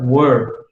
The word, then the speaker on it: were: Lembrem, esse cara aqui se pronuncia were, ele não se pronuncia were, igual alguns confundem com o where do onde, certo? Com H, isso aqui fica where. Mas esse aqui se pronuncia were, como se fosse com o, certo?